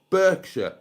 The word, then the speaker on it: Berkshire: Um, I am in West Berkshire, pronounced Burke.